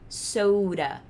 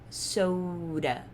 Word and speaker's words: soda: gente vai pronunciar isso com som de R, então isso daqui vai ser soda, soda, soda, beleza?